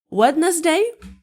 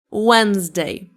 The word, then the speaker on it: Wednesday: And number five is wetness day. H. No, Wednesday.